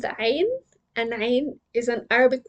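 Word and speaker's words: عين: It comes from the deepest part of the throat.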